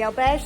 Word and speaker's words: albergue: The albergue that we stayed in, albergue, I've been saying it in French up until this point. Albergue is apparently the correct Spanish pronunciation.